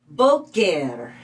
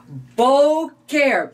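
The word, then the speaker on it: בֹּקֶר: That word is Boker. Boker. Let's spell that.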